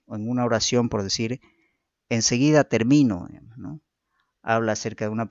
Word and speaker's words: termino: El acento es un rasgo diferenciador de palabras que según la sílaba donde se sitúe origina cambios significativos a las palabras. Gracias a la presencia del acento en una u otra sílaba, producimos palabras con significados y funciones distintas.